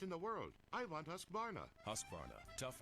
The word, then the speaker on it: Husqvarna: So I teach you now how to say Husqvarna. You say husk like corn and varn like varnish without the ish, and nah, like nah, I don't want any other stinking chainsaw or trimmer or mower.